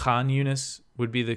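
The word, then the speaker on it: Khan Yunis: I know I guess I I technically don't pronounce k yunus correctly the it's aunus would be the correct but it's tough for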